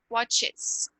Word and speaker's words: watches: Você não acha que nesse segundo parece que tem uma sílaba a mais? Watches. Diferente de likes, que é um som só, tá? Então aqui é importante você falar esse E.